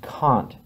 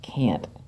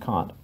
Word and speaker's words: Kant: that it is pronounced Kant. Even if you're from Oklahoma or Arkansas, it is not pronounced Kant. It is pronounced Kant, just so you know.